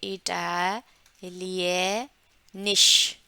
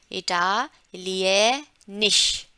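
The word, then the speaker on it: Italienisch: बोलेंगे, वो लैंग्वेज बोलेंगे इटालियनिश, इटालियनिश। लास्ट में ये जो एस से हा है वो श का, गोल वाली श का जो है आवाज रहता है उसमें, ठीक है, इटालियनिश। दूसरा दूसरा फ्रेंड जो है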